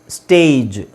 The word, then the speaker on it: stage: STAGE, ಸ್ಟೇಜ್.